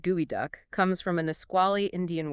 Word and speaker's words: geoduck: And the name pronounced gooey duck comes from a nquali Indian word meaning digging deep because it can bury itself 4 feet in the sand.